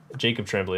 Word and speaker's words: Tremblay: Jacob Tremblay. That's it. Jacob Tremblay. Tremblay. Yeah. It's spelled Tremblay, but because it's French, it's pronounced Tremblay.